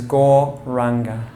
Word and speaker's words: gauranga: of the class is gauranga we break it up into four syllables gah gah gah it's on the outward breath the mantra sounds like gore again is your inhale